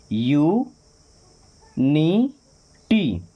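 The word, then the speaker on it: unity: अब यू को यू ही पढ़ते हैं। You knee T. क्या बन जाएगा? यूनिटी। अनिटी नहीं होगा। क्या होगा? यूनिटी। अ प र अपर इसको टी यू को च पढ़ते हैं।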